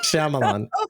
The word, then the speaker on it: Shyamalan: I'm night shamalan no you keep calling him shoman shoman you keep saying like Shaman like cutting out the middle syllable sorry I'm having a